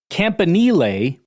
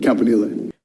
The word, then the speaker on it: Campanile: Campanile, which is how he pronounces it. Campanile.